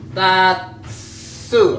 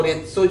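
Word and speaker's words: 立: Oke, bacanya tatsu artinya berdiri, berdiri. Atau tateru artinya mendirikan. Atau ritsu juga berdiri.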